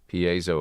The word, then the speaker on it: piezo: Mark says it's piezo. First two syllables are like piezo. That's how I always say it, but I always felt like I was saying it wrong. Piezo, according to Google. Okay.